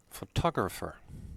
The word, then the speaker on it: photographer: photo the next one photographer the stress is on the second o and t is pronounced t like photograph as well here